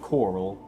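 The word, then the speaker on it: Chorrol: supposed to head to the city of coral that's what they pronounce it but I've already I've all I've always called it torille your gang this dude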